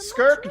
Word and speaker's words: Skirk: It's an honor to finally meet the Skirk just rhymes with twerk.